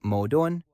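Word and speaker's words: 矛盾: The Chinese word for contradiction, pronounced something like modon, is composed of the characters spear and shield.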